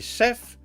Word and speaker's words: Seph: It's not Sept-sama. It's S-E-P-H sama. I'm gonna point this out. You can either call me Sef-sama, can call me Sef, or Sephiroth 57.